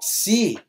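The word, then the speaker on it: ξῖ: Xi é o X em táxi, mas não como lixo. Quando a gente fala lixo, é um X mesmo. Aqui não. O Xi é um X quando a gente tem essa pronúncia de voo de táxi. Você não fala de taxi, né?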